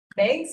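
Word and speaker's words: Meigs: It's Meeks, right? Is now one way from. Where is that? Dun, dun, dun. How about that? Yes. Okay. Oh. Yeah, so- You pronounce that Meeks? Megs?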